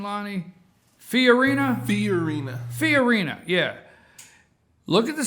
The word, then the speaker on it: Fiorina: Fiorina, yeah.